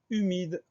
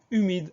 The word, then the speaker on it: humide: suivant c'est le mot humide alors attention première syllabe u on va devoir mettre un H qu'on entend pas un h muet suivi d'un U donc début du mot